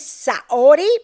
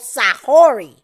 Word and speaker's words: Saori: say it again well the pronunciation is saori but she likes to be called sahori so it was an